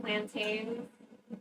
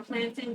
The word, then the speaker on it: plantain: Um, for example, I would never use oil that was frying fish for desserts like plantain or plantin, depending on how you pronounce it.